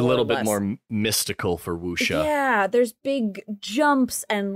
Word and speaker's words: wuxia: So that was referred to as wuxia, if I'm pronouncing, yes, this correctly.